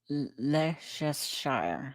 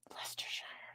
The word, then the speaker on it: Leicestershire: Is it Lay or Lee? Lie? Leicester.